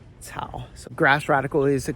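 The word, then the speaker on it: 草: So without the grass radicals, it's Tsao. But with the grass radicals, it's Tsao.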